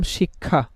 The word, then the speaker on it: শিক্ষা: একটা আমরা শব্দ দেখলাম বললাম শিক্ষা। এই খিয়টা তো আর শুরুতে নেই তাই না? শেষে আছে। তাহলে কি হবে? তার পরিবর্তে ক, হসন্ত, খ। তাহলে আমরা লিখবো শিক্ষা।